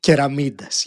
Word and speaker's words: Keramidas: Joining me today, Keramidas. I probably mispronounced that again. Keramidas. Help me out. Keramidas, yes.